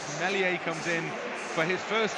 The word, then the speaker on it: Meslier: So Meslier, the S apparently is silent. Meslier comes in for his first championship start in place of Kiko Casilla.